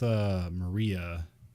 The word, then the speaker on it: Mari: It's Mari. Yeah. Because I was like, how do I spell that? Because like, do I spell it like Mary? It's like, no, you have to say like Ma.